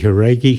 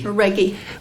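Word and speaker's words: Jauregui: I'm glad you pronounced that name, Andy Haragi. Haragi.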